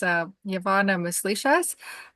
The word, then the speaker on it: Wyavanna Muslishas: for having me here today my name is U yavana mishas um and uh some people know me as